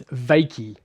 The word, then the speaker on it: Wykie: It's Wykie. Wykie. So pronounced V-A, even though it's spelled W-Y. V-A, Wykie.